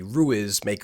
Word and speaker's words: ruismaker: And I guess the American pronunciation would be Ruismaker or whatever. Ruismaker, I spelled that RUISMAKER. It's a Dutch word. Translated, it means noisemaker.